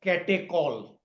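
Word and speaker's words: catechol: We pronounce it ketall.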